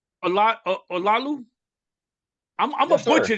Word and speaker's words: Olaolu: know if your glasses can help you I pronounce can't Olaolu I, but I would guess that they probably won't. But Olaolu is how you say my name. Olalu.